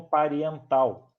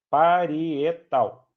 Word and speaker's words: parietal: pelo amor de Deus não me pronuncia e não me escrevam pariental tá parietal Ok esses vão ser